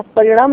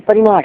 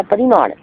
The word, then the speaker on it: परिमाण: तो विचार करते करते जाएंगे तो परिणाम, क्या परिणाम नहीं, परिमाण है। मेरे विपरीत उच्चारण हो गया, परिमाण।